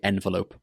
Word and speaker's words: envelope: Envelope, envelope. Personally, I say envelope. Often, often. I pronounce this word with the T sound, often, but both are acceptable.